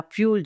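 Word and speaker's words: Thule: बाय 1953 फ्यूल air base spellings में इसको टी एच यू एल ई लेकिन इसको बोला फ्यूल जाता है।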